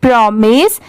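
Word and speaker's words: promise: प्रो होता है और एम आई एस E miss होता है ठीक है बहुत सारे जगह पर इसे माइज भी प्रोनाउंस किया जाता है बट यहां पर इसकी साउंड क्या है मिस की है यहां पर स्टार्टिंग का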